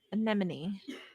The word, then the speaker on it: anemone: enemy i'm wrong he's i never say an enemy by itself i always say see an enemy anemone why don't we always